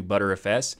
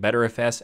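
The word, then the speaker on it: Btrfs: pc first of all there's some improvements to butter fs there's also some people calling it better fs and even some people call it butter fuss i don't know why anybody would do that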